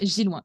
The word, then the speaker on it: Gilouin: Et donc ça se prononce Gilouin, effectivement, Gilouin. Bah, comme ça se lit en fait, mais c'est parce que je me Exactement.